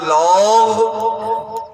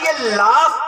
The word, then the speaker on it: laugh: اب ہم لوگ تو اردو کے حساب سے چلتے ہیں، تو اب ہم نے جب اس اسپیلنگ کو تلفظ کرنے کی کوشش کی تو ہم نے پڑھا لاغ. ارے مولانا پورے ہی مولانا ہیں آپ، انگریزی کچھ بھی نہیں جانتے. ارے یہ لاف پڑھا جائے گا.